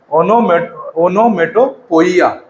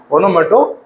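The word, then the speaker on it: onomatopoeia: इसके बाद अगला जो डिवाइस है हमारा थोड़ा सा डिफिकल्ट है, उसका प्रोनाउंसिएशन आप ध्यान से सुनिएगा, ओनोमेटोपोइया, है ना। क्या इसका प्रोनाउंसिएशन है, ओनोमेटोपोइया। पोइया।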